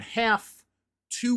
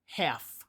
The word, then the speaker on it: have to: I don't have to work today. If we're adding an infinitive after have, we actually say it as half.